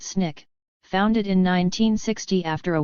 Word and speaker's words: SNCC: Student Nonviolent Coordinating Committee SNCC pronounced Snick founded in 1960 after